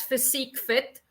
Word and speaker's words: PhysEQFiT: Yes, we pronounce it as PhysEQFiT. And I think there you see basically the combination coming through with the PHYS as the physical, the EQ for the emotional wellness, the FI for the financial wellness.